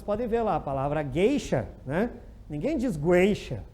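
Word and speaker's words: gueixa: Então, ninguém diz, eu vou lá contratar uma geisha. Eu vou contratar, porque no Brasil não tem isso. Mas, enfim, né? Geisha. O U não é pronunciado, ninguém diz geisha.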